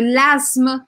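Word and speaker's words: l'asthme: De l'asma, se escreve com TH, mas a gente meio que não pronuncia, não fala.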